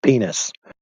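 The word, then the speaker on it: PNAS: So, the organization's name is PN A S, pronounced penis.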